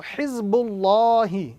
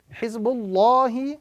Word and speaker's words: Hizbullahi: That signifies to us that the word Allah in this formation must be pronounced with a round sound. So Hizbullahi is the correct pronunciation as opposed to Hizbullahi. Hizbullahi, Allah with a round